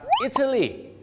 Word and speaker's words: Italy: ต่อ ไป นะ ครับ italy ไม่ ใช่ อิตาลี นะ ครับ italy สังเกต นะ ครับ ว่า การ stress นะ ครับ ก็ เป็น สิ่ง ที่ สำคัญ ใน การ ออก เสียง ให้ สำเนียง นั้น ดี ขึ้น ถ้า เป็น สำเนียง ไทย